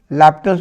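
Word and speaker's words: L'Hôpital: कर दिया according to लैप्टल्स rule. यहाँ लिख सकते हैं, समझने के लिए मैं लिख देता हूँ, बाई हॉस्पिटल नहीं पढ़ा जाता है, ये साइलेंट है, इसको पढ़ते हैं लैपिटल।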